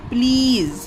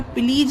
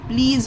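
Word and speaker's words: please: इसे गाइस बहुत से लोग प्लीज पढ़ते हैं पर प्लीज नहीं होता। यह प्लीज होता है। यह वाला ज है इसके नीचे जो बिंदी है इसे प्लीज पढ़ते हैं। और एस को यहां पर सा का साउंड नहीं देना है।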